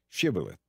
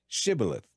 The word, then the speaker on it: shibboleth: tell him to say shibboleth if he was from ephraim he would say sybileth because people from ephraim cannot pronounce the word correctly then they would take